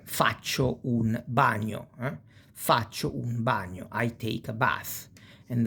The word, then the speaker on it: bagno: Si pronuncia come onion, more or less, but it's more gn, bagno.